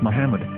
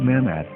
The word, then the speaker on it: מחמד: the name of the Muslim prophet, or as Mamad with no A after the H. According to Ben Yehuda's Hebrew English Dictionary, it is correctly pronounced as Muhammad, not Mamad.